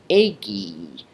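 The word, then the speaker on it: ēgī: Here's another lengthened stem vowel. Ago, agare, I do, becomes eggy, I did.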